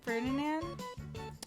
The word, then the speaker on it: Ferdinand: How do you pronounce his last name? Ferdinand.